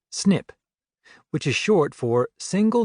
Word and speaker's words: SNP: One of the most important pieces of the genetic puzzle is a type of variation known as SNP pronounced SNIP which is short for single nucleotide polymorphism.